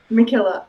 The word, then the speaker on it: MacKillop: right can you say your last name mckillop mckillop mckillop fight on March 9th at